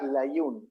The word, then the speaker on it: Layún: Layún es el apellido, yo sé que es un poquito difícil de pronunciar, pero bueno, suelen Hay un.